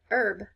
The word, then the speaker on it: herb: Sometimes, not very often, but sometimes H is silent. And so words like hour and honesty, herb, depending on where you're from, that H is silent.